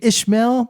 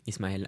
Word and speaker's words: Ismael: really pronounce it uh it's pronounced isma Isel um but yeah I could Ismail is normally a little bit easier for everybody so that's okay too that's a cool way to